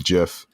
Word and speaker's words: GIF: and Omari were like, we pronounced it as GIF. He was so flustered. He has no idea like why anyone would ever do that. You guys missed that. Yeah, it's the correct pronunciation. Like, that's like GIF. GIF doesn't sound right. It sounds like gift. It's spelled like GIF. It's not, isn't it GIF like the peanut butter spelled with a J?